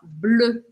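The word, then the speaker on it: bleu: e azul em francês a gente fala blu blu esse som e não existe em português deixa eu te ensinar a fazer não precisa ter medo dele para você fazer ele você vai imaginar que você vai falar um o Mas você vai encostar a pontinha da língua ó aqui atrás dos dentes atrás por trás BL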